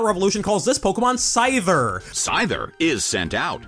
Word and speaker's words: Scyther: Scyther is sent out. With a voiced TH sound like in the word there, as opposed to the voiceless TH in the word thing.